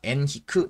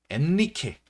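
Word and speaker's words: Henrique: 옛날 책이나 아니면은 인터넷이나 이런 데서는 보통 우리가 엔리케, 스페인식으로 엔리케라고 하거나 아니면은 이제 영어식으로 헨리라고 읽는 경우가 있어. 그래서 뭐 내비게이터 헨리, 뭐 아니면은 뭐 항해왕 엔리케 이런 식으로 표기되는 경우가 많은데 이 사람 포르투갈 사람이다 보니까 우리가 포르투갈식으로 이름을 읽어주는 게 맞습니다. 그래서 우리는 배운 사람들이니까 우리는 앞으로 꼭 엔히크라고 이 사람의 이름을 명명을 해주자.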